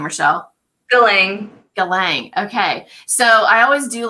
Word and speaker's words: Galang: do you say your last name Rachelle billing Galang okay so I always do like my Kevin